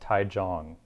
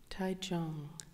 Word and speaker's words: Taichung: Apparently it's pronounced Taichung. Ah, thank you. Taichung.